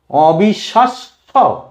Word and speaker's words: অবিশ্বাস্য: উদাহরণ, অবিশ্বাস্য, অবিশ্বাস্য, অবিশ্বাস্য। শকে দুবার উচ্চারণ করছি শেষে, অবিশ্বাস্য।